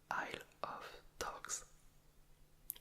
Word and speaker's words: Isle of Dogs: a lot it's a aisle of dogs I took time to pronounce the name because if it's spiled quickly it's I love dogs which is fun this